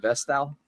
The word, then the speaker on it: Vestal: Vestal.